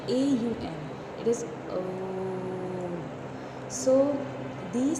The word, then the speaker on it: Om: But coming to the other points, Om is a complete word, and it is not pronounced as Om. It is pronounced as AUM.